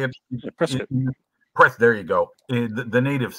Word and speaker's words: Prescott: It's spelled P-R-S. P-R-E-S-C-O-T-T. Right. Well, it's pronounced Prescott. That's how you say it. Prescott.